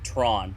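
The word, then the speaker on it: troan: 12 options okay so the word is spelled t r o a n but it's pronounced Tron T R A WN like Thon without the H I have it being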